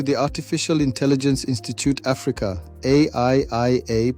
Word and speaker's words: AIIA: Welcome back to the Artificial Intelligence Institute Africa, AIIA, pronounced Aiia, Ubuntu Guild's videos on AI.